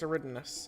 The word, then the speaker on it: Eridanus: That's right, it's Eridanus, not however I pronounce it wrong.